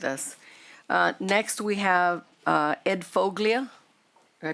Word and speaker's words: Foglia: Next, we have Ed Foglia. Did I pronounce that correct, I hope? Is pronounced folia. The G is silent.